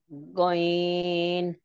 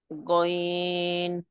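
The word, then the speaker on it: غين: হয়েছে জি এরপরে তাহমিনা বেগম আপু আপনি হরফটা উচ্চারণ করে শোনান গইন আরেকটু টান দিতে হবে আরেকটু টান দেন গইন মাশাল্লাহ সুন্দর হয়েছে জি এটা তিন আলিফ টান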